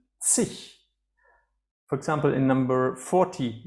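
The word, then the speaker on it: zig: the end, and please pay attention to my pronunciation, sich.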